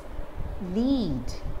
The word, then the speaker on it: lead: the different pronunciations are as a verb it's pronounced as lead lead to lead the team as a leader